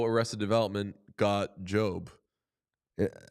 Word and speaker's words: GOB: So Job is George Oscar Bluth, but they just call him G-O-B and then people mispronounce it as Gob.